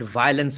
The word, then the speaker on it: violence: ever pronounce the word violence properly. They have to call it violence or violence. Why, bro? It's VIO. It's not VOI. Why does entire North India keep pronouncing it as VOI and often WOI?